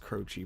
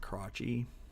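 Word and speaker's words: Krochi: a character named cro i know it's pronounced crochet but it looks like crotchy so i'm not gonna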